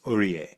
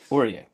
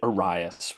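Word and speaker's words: Ourrias: or o u r r a i s orier orier going to go with that um so I was pronouncing it oras which is just the head but we're going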